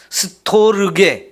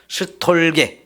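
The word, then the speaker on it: στοργή: 줄여서 말하는 습성이 있는데요 원래 발음으로는 스토르게 이렇게 해야 정상적이지만 그리스 사람들도 전 세계적 다 현상인데요 줄여서 자꾸 말합니다 그래서 스톨에 이렇게 표현하거든요 이거는 그 스톨라 단어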